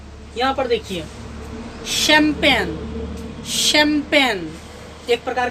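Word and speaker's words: champagne: अब जो शब्द इटली से आया है या यूनान से आया है तो उसमें CH का उच्चारण श, तालव्य श होता है। तो ये सभी शब्द यूनानी या इटालियन भाषा से आए हैं और सबों में CH का उच्चारण तालव्य श होगा, तालव्य श।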